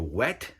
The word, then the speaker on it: W.E.T.: or Wet. It's written W.E.T. Pronounced Wet, obviously.